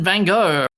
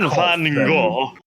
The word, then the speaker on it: Van Gogh: I can't quite do it right, but it sounds more like Van Gogh. Yeah, it sounds more like cough in Dutch than it does to say Van Gogh. Yeah, Van Gogh, Dutch impressionist painter.